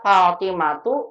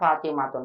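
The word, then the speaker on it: فاطمة: ya karena nama orang kita bacanya fatimatu bukan fatimatun padahal fatimah gak ada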